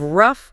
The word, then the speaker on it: rough: You have rough sounding like uh you have dove sounding like o.